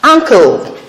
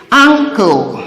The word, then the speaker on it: ankle: Now, if you look at it very well, you'll see that this N comes before the K, and that is why it is a velar sound and not an alveolar sound.